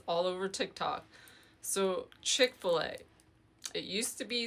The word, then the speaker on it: Chick-fil-A: So Chick-fil-A, it used to be spelled like chic c h i k and then f i l a.